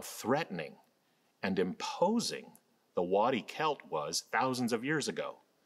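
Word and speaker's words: Qelt: In modern-day Israel-Palestine, today, just east of Jerusalem, there is a wilderness called the Wadi Kelt. Wadi is the Arabic word for valley. Kelt is spelled Q-E-L-T.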